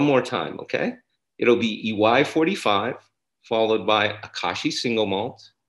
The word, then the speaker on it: IWAI: So as we line up the whiskeys, now that we've poured our Akashi, we're going to go with the EY 45, the IWAI, pronounced EY.